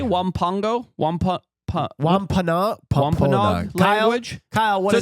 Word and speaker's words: Wampanoag: Wampanoag Wampanoag language?